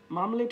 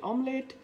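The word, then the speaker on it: omelette: plus নেই হবে pliers, মামলেট হবে না হবে অমলেট, শিডিউল বলা যাবে না,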